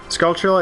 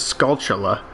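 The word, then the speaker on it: Skulltula: thought it was wrong I thought the proper way was scula but I I I but I never said it all right at fast speeds that's really hard to control skula scal Scala no I definitely don't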